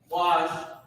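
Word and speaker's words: בקש: Bakwash is how you pronounce it, Ba, and then Kwa and Sha are connected.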